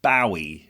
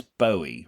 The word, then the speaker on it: Bowie: about David Bowie and Angie.